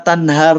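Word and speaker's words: تنهر: Wa ammasa ila fala tanhar, pakai H besar kan.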